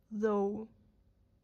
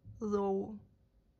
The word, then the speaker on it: though: «Though». Отлично! Очень хорошо получилось. Чувствуется, что ты поняла, как правильно произносить TH в этом слове.